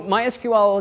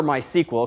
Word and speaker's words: MySQL: see how that's actually used but let's introduce MySQL first and henceforth use it for the remainder of the class so MySQL is it oh and I actually called MySQL